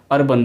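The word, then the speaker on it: urban: फिर आता है उर्बन, इसको उर्बन नहीं बोलते ताकि ये यू से शुरू होता है, लेकिन फिर भी इसको हम अर्बन बोलते हैं, ओके, इसका सही उच्चारण है अर्बन।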